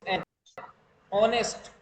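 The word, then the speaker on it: honest: यहां पर जो शुरू वाला जो एच है बेटा यह साइलेंट रहता है।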